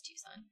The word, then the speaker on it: Tucson: right I don't know Tuan Tucson yeah it's Tucson thought you were going to say the priest